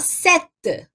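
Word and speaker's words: sept: assim s&p te certo SBT mas quando vai pronunciar você fala certa Tá bom sete é como se aquele pele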